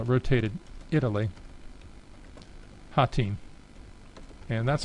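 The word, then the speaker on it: Hotine: Let's call it rotated Italy Hatin. And that's how you pronounce that word if you've never heard it pronounced before.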